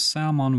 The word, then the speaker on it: salmon: We pronounce salmon without L.